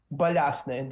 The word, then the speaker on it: Balyasny: My first name is quite easy to pronounce, Sammy, Sammy. Last name is Balyasny.